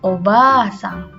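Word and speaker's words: おばあさん: Hati-hati untuk nenek itu ada dua a ya. Ba lalu ditambahkan a maka dibacanya panjang obasang yang artinya adalah nenek.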